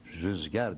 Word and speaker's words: rüzgar: Aslı, aslı rüzgardır, rüzdur ama İstanbul Türkçesi o u'yu ü'ye çevirmiştir. Rüzgar diyeceksiniz diyor.